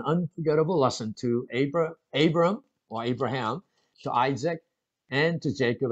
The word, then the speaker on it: Abraham: 자, 그 사건 that incident became an unforgettable, 잊을 수 없는 unforgettable lesson to Abraham.